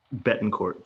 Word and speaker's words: Betancourt: your your on point it's Betancourt Bettencourt Bethencourt there's some French in there and maybe some Spanish as well so tell our audience